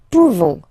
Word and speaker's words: pouvons: So, classic ending for nous, this ONS ending for nous, okay, nous pouvons, okay, you don't pronounce the final S, nous pouvons, Then vous